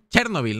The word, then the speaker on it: Chernóbil: Chernóbil, ¿no? O Chernóbil. Tiene acento. Chernóbil. Es Chernóbil, no Chernóbil. Sí, sí. Tiene acento en la O.